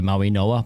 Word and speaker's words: Mauigoa: Maui, I think it's pronounced Noah, by the way, Maui Noah.